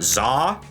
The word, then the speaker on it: Za: This is the Krana Za, spelled Z-A this time, not X-A. It is pronounced exactly the same way according to the wiki.